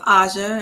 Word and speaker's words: Asia: So it's pronounced Aja, and it's perfectly okay.